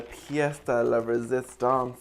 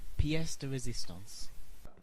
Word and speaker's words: pièce de résistance: Oh, and then the pièce de la résistance is that how you pronounce that? Pièce de résistance.